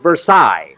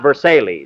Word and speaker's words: Versailles: Versailles Mary that's for that's pronounced Versailles not Versailles I'm quoting Phil and